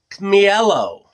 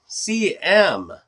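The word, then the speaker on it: Ćmielów: Without breaking it, this was made in Poland by a company called, oh my gosh, Cmielow. Cmielow. Cmielow. I guess is how you say that. Polish.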